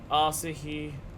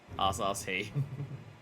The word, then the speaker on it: Asahi: That's how I always hear Bartons pronounce it. Asahi.